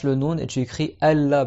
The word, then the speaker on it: Allah: nous et tu écris Allah parce qu'on fait un hydrom le noon avec le LaM et normalement tu dois le prononcer Allah et du coup même